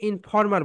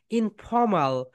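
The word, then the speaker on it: informal: এফ যখন উচ্চারণ করবে উপরের দাঁত নিচের ঠোঁটের সঙ্গে টাচ করো।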